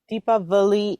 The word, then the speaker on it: Deepavali: W with the Diwali. Deepavali is with the V.